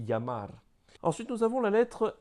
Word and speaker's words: llamar: Donc c'est, par exemple, llamar. On dit llamar.